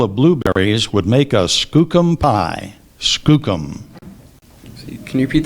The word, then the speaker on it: skookum: PR there are copal or copal copal first pronunciation copal cop c o p a l Copo Skookum Skookum Liz felt sure that the pale of blueberries would make a Skookum pie Skookum can you repeat that yes Skookum